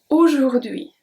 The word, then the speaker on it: aujourd'hui: So, aujourd'hui, aujourd'hui. The H is silent. We never pronounce the H in French. H is always going to be silent.